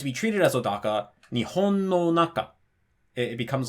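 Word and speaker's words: 日本: like old Daka words so Nihon has the accent on the ii mora which is also the second-to-last mara so it's Nihon this but if you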